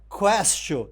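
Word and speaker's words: quaestio: Porque castio lembra questionar, porque em latim se pronuncia questio.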